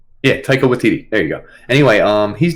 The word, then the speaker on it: Taika Waititi: How do we pronounce his name? Taika Waititi. Yeah, Taika Waititi.